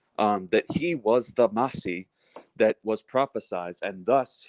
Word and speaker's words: Mahdi: different on it and by the way it's pronounced mahdi um okay that because and the reason why